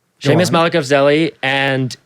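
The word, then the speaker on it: Malekafzali: But I am starting a new podcast with two extremely brilliant people, Seamus Malekafzeli.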